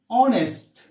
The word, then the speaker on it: honest: example for a cl honest see this word has a silent letter here we are not pronouncing h we are not telling